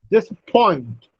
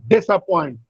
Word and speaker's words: disappoint: Similarly, disappoint. It is not disappoint, it's disappoint. Point has primary stress and dis has secondary stress.